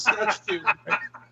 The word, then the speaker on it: Saskatchewan: Is that how it's pronounced now? Yeah, it's Saskatchewan. Wait, no, it sounds like you've got one too many syllables in there.